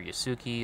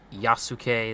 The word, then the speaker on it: Yasuke: Yes, they're Yasuki. That's how you say it. I will not accept Yasuke. That is the grossest thing ever, and it is incorrect because Quell told me one time that it was.